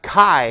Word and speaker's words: chi: not the Keyblade Keyblade with the Greek letter key which is actually pronounced Chi right but like they call it Qibla so